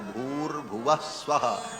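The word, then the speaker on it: भूर्भुवः स्वः: विसर्ग को र हो के और फिर वो र ऊपर चला जाता है तो भूर भुव स्वाहा ऐसा उच्चारण होता है।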